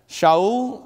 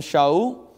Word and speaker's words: Shaul: Shaul, I think that's how you pronounce his name, Shaul.